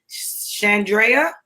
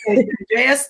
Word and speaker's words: Shandrea: And so this week, we have the wonderful, exciting, you guys, Shandrea. Did I say it right? Yes, you did. Shandrea Stallworth.